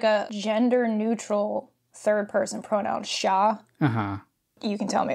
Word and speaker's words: siya: So there's, like, a gender-neutral third-person pronoun, sha. Uh-huh. You can tell me if I'm butchering the pronunciation, but it's S-I-Y-A.